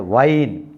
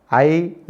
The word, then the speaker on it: whine: Here H is a silent. This is this word has been pronounced as a wine. WHINE, wine.